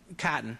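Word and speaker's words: chitin: that's what all insects are made out of kotton it's the shells the body beetles roaches butterflies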